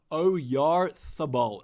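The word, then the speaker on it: Oyarzabal: He is pronounced Oyarthabal. Actually, that is true. I remember there was a th in there.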